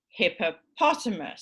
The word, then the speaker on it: hippopotamus: So hippopotamus. So hippo is a secondary stress and the major stress is on the second to last.